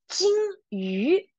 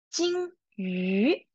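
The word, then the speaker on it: 金鱼: Okay, you sure when you are pronouncing 鱼 , remember, you have to level up your voice, okay? 金鱼 , 金鱼 , very good.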